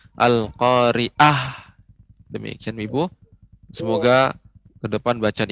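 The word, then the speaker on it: القارعة: catatannya sedikit saja yaitu pengucapan Aa Ain al-khoeriyah ya lebih dileburkan lagi sehingga tidak terkesan pengucapannya menjadi huruf alif Al Qoriah Demikian Ibu semoga kedepan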